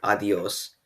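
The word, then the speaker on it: adiós: word conversely the word adios means goodbye notice the accent on adios that means that the syllable is stressed and it's pronounced adi os not adios or adios now let's move on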